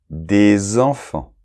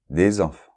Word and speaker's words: des enfants: personnes pas de liaison mais des enfants d'accord et là on a la liaison à nouveau des enfants ok bien dans celui